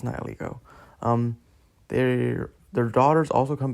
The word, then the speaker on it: Nihilego: I'm not pronouncing that. Nihilego. It's Nihilego.